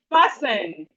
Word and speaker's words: fasten: We have fasten. We have fasten. The T in fasten is silent.